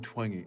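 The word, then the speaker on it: Twenge: Gene Twangi, is it pronounced? Twingy. That's how she says her name.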